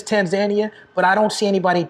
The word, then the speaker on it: Tanzania: was like, it's not Tanzania. I don't think people really care. I think the proper way to say it is Tanzania, but I don't see anybody challenging anybody when they say Tanzania.